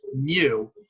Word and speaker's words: mu: u with a tail on it okay that's pronounced mu and that means we're dealing with a population